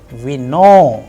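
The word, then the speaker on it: вино: And in case of vino, it is again on o and it is being pronounced as vino.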